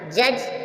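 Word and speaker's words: judge: means किनारा जी से पहले डी आया डी साइलेंट है एच एज मींस किनारा जज जज मींस न्यायाधीश जज जज मींस न्यायाधीश जी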